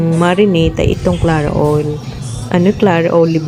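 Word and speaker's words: Clara Olé: Clara olive ang bigkas dyan.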